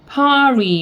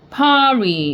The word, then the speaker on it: party: 아 길게 발음 들어가면서 이렇게 되고 그 다음에 T는 트 발음인데 이렇게 두 개 연결해서 이렇게 T가 들어갔으면은 리을 발음으로 바뀌어요. 그래서 party 이렇게 하시면 됩니다. party 이렇게 그래서 when is